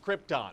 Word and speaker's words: Krypton: It's pronounced Krypton.